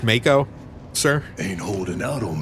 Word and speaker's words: Mako: I believe it's pronounced Mako, sir.